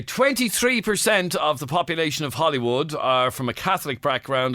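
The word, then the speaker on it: Holywood: holy warden County down but it's pronounced Hollywood it's different weird anyway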